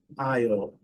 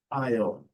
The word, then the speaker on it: isle: E aqui a pequena ilha, uma ilhota, é a mesma pronúncia lá do corretor. Isle, isle, isle.